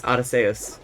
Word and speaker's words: Arceus: In Japanese, it's Arceus.